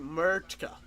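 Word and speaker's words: Mrtka: Radim wow, how do you pronounce it? Murtka.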